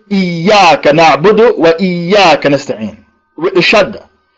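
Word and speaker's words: إياك: Iyyaka na'budu wa iyyaka nasta'in. With the shadda. If you say Iyyaka na'budu wa iyyaka nasta'in with the shadda, you say I worship the sunlight. You have to pronounce the shadda.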